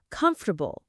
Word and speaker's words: comfortable: Take the word comfortable. Most learners try to say every single letter. Come, for, bull.